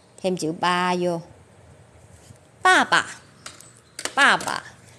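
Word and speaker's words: 爸爸: Chữ này đọc bơ, a, ba, sư sân, ba. Nhưng chữ thứ hai sẽ không đọc là ba nữa, mà bị biến thành âm năm. Trên đầu có một cái dấu chấm.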